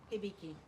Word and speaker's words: Hibiki: And how do you pronounce that? Hibiki.